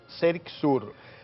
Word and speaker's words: CERICSUR: Ella es coordinadora de CERICSUR, así se pronuncia, CERICSUR.